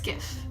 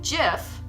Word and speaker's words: GIF: know I know but it's gif because if you think about it the acronym the gian gif stands for graphic which is a hard G so it makes sense then to call it by the acraman gif with the hard G as well because if you say Jeff then you're totally contradicting what the G stands for so that's why I